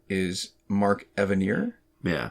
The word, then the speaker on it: Evanier: His name is Mark Evanier. Yeah. It looks like it should be pronounced Evanier, but it's not. He actually is very clear that it's not French, and it's...